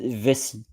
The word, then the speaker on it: vessie: of the day is vessie and here you see the word in French V SS i e and you don't pronounce the E because it's a silent E and ESS means that